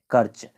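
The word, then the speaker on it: Kerch: यहां पर था हम लोग उसको पूरा किए कर्च का जो स्पेलिंग है यह है के ई आर एस के ई आर सी एच कर्च तो कर्च हम लोग कवर किए तो इस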